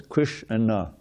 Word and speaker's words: Kṛṣṇa: It's the name of two syllables, Kṛṣṇa.